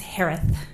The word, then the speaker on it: Herath: name last name is pronounced like Harris with a lisp it's herath h-e-r-a-t-h hi Shay hello just